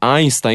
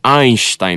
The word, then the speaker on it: Einstein: Que aí ele fala Einstein, ele pronuncia o nosso S, né? Mas é Einstein no original, né?